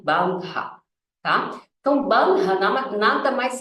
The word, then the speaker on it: bandha: tal de bandra né então é assim que a gente pronuncia tá esse H ele tem um som de R né bandra tá Então bandra nada